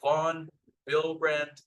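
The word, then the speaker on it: von Willebrand: population which is the vonbrand disease okay so the W here is pronounced as the V now this is a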